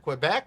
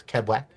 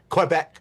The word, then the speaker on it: Quebec: Would you go to Vancouver, Quebec? Would you go, which is not pronounced the way I'm pronouncing it. Sorry, it's Quebec. Quebec.